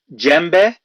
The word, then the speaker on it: djembe: One is called a djembe, which is spelled Djembe.